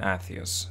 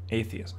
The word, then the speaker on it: Atreus: Why did he name his son Atreus? Like, atheist.